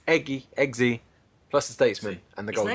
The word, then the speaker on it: Eggsy: plus Eggy. It's Eggsy, plus the statesman and the His Golden name's Circle. fucking Gary. How'd you get Eggsy from that, please?